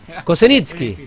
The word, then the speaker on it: Kozenitsky: Bueno, bien con la pronunciación, dije... Casi. Kocesniki. Kocesniki.